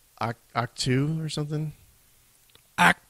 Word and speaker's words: Ahch-To: It's spelled AHCH-TO. It's like Act 2 or Act 2 or something.